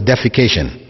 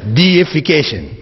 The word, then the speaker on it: deification: that word in English please don't pronounce it as defecation right because that has a whole different meaning altoe it's deification which means making something